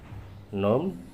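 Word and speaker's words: ن: Dibaca nun. Jadi tidak dibaca na, tapi dibaca nun.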